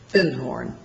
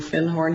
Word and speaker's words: Findhorn: Because I'd found a book called The Magic of Findhorn. And he corrected my pronunciation. He said, you mean Findhorn?